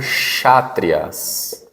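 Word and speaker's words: Kshatriya: catras né dos chatrias começa com k mas pronuncia chatrias chatrias tá os chatrias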